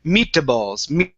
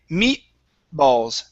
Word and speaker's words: meatballs: what you're doing is you're adding an extra sound in between the T and the B you're saying me balls so instead of me balls okay we say meatballs meatballs meatballs good good